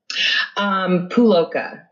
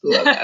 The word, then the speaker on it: Puloka: Puloka. Okay. That's what I thought. Yeah. It's phonetic. So it's like the U, just like ride that U. It's just Puloka.